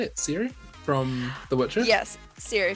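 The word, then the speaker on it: Ciri: stuff together for the stream you did uh siri right that's how you say it siri from the witcher yes siri from witcher that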